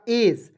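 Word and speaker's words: edge: को ज लिखना है हो जाएगा एज अब कहिए सर इसमें डी साइलेंट होगा तो बिल्कुल होगा अब देखिए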